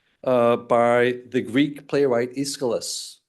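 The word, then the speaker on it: Aeschylus: Take for example um the orosta uh by the Greek playwright Iscilis. Sometimes you'll hear the name escaliscalis uh I think is the right pronunciation and the ore is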